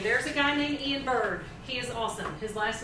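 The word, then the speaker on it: Byrd: There's a guy named Ian Bird. He is awesome. His last name is spelled B-Y-R-D.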